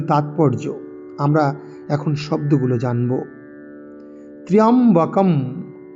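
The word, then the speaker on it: ত্র্যম্বকম্: পরবর্তীকালে মার্কণ্ডেয় পুরাণ নামে, তার নামেই খ্যাতি লাভ করল। এই হচ্ছে মহামৃত্যুঞ্জয় মন্ত্রের মূল তাৎপর্য। আমরা এখন শব্দগুলো জানব। ত্র্যম্বকম, ত্র্যম্বকম, ত্র্য জফলা, ত্রা, এরম আকার উচ্চারণ করব না।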